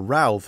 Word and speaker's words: Routh: And Ryan Ruth, or Routh as we British will pronounce it, he is the guy who was planning to assassinate Donald Trump, allegedly.